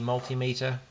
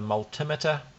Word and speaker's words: multimeter: on the multimeter or as uh Ben heck says the multimeter I do disagree with that pronunciation because it sounds absolutely strange to me me but uh if you think of other meters like altimeter you wouldn't say altimeter maybe someone does I